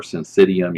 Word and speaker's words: syncytium: It's functional syncytium or syncytium. You'll hear people pronounce it that way as well.